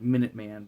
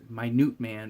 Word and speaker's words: Minute Man: plays minut man but everybody pronounce his name like Minute Man but he's my newt man because he shrinks he's like the atom